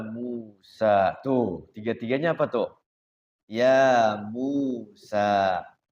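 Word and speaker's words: يا موسى: Ya Musa. Dua harokat semua. Mad tabi'i semuanya ya. Teger ya. Ya Musa. Jadi ngukurnya sama. Dua harokat itu ketukannya itu sama. Ya Musa. Jangan panjang-panjang.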